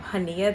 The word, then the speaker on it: Chania: That was actually what I was going to do here once I arrived in um Haneia.